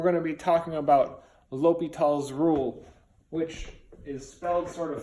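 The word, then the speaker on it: L'Hôpital: spelled this way and it looks like it says well hospital but it was originally l'hopital's rule has a little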